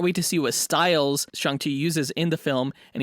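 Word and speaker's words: Shang-Chi: chi movie nice pronunciation i'm still trying to get in the hang of not pronouncing it shang chi but cj said that he can't wait to see what styles shangti uses in the film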